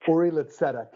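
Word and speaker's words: Uri L'Tzedek: Uri Litzedek.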